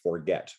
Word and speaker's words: Forget: So as Sam reminded me off air, when you see his name written, it will look like forget, but it's pronounced Forget.